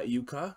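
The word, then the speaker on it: Jukka: Spelt with a J, but sounds like a Y. Yeah, Yuka.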